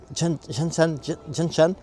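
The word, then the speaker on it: Zhanshan: En fait, ça s'écrit Zanshan. Mais ça se prononce genre Janshan.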